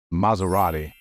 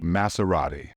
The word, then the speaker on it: Maserati: way to pronounce it the problem with the pronunciation of this word often lies in saying the letter as in this word it should be pronounced as Z so the correct way to say this word is Maserati not Maserati be careful Larry Wildman going